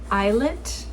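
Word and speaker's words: islet: so I am knitting I think it would be pronounced the eyelet i s l e t triangle by Leila Rob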